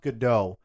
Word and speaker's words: Gadot: I think it's pronounced Gadot.